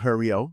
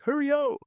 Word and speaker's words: Hurryio: so and this one's pronounced Hurryio. It's because like hurry. It's like Hurryio.